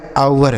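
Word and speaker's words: hour: आर तो यहां पे ये जो एच है ना दोस्तों यह साइलेंट है। इसे नहीं पढ़ा जाता है। तो क्या पढ़ा जाएगा इसे? इसे पढ़ा जाएगा आवर।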